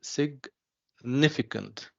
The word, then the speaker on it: significant: So what about when I say significant? See? Second part. The second syllable, yes.